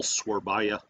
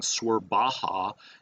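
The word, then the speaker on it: Surabaya: The beautiful Swerbaya. Now that I'm pronouncing it correctly, you may remember when we started the tutorials, I think I was saying Swerbaha, and somebody corrected me.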